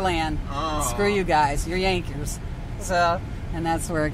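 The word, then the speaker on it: Jankers: so they called them Yankers which is spelled j-a-n-k-e-r-s and but pronounced J is pronounced as a y and so that's where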